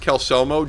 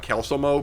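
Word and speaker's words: Calcelmo: So anyway, Kelselmo, you don't know this. First of all, your name is pronounced Kelselmo, definitely, and not Kelselmo, because that's what Colleen thinks the pronunciation is.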